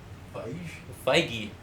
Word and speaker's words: Feige: Feige, huh?